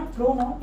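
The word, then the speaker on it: pronoun: Next है हमारा, ये बहुत सारे लोग गलत प्रोनाउंस करते हैं जो कि प्रोनाउन। इट इज नॉट प्रोनाउन, इट इज प्रनाउन।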